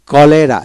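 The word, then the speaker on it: cholera: তারপর চকার চকার কলেরা সি ও এলই আর এ কলেরা সিউতে কলে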